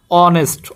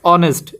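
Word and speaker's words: honest: দেখো এন অনেস্ট এখানে এইস এর উচ্চারণ কি হচ্ছে না অনেস্ট অনেস্ট এ কারণে কি ইউজ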